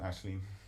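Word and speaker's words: Aisling: Would be more the sort of the name, how people would pronounce it, Ashleen.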